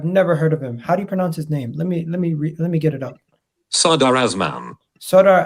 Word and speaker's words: Azmoun: Sardar Azmoun. Sardar Azmoun. Never heard of him. Never heard of him. Yeah. Is that Azmoun or what? Azmoun, yeah. Azmoun. Let me tell you guys who Azmoun is.